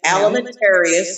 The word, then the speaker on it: Alimentarius: codex just exactly like it sounds ceo c-o-d-e-f alimentarius and it's spelled exactly like it sounds a-l-m-e-n-t-a-r-i yes well